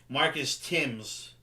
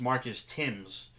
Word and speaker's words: Thames: players what's his name Marcus Thames he wanted his name to be Marcus Tim's well he did pronounce